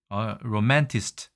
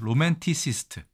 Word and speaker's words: 로맨티시스트: 로맨 뭐죠 t 시스트입니다 로맨티시스트 그러니까 이거를 제가 발음을 많이 안 해봤으니까 로맨티시스트라는 발음이 잘 안 되는 것이죠 여러분도 한번 발음해 보십시오 로맨티스트가 더 익숙하신지 아니면 로맨티시스트가 익숙하신지 로맨티시스트가 맞습니다로만 틱에서 왔으니까요 자 그러면 마지막 한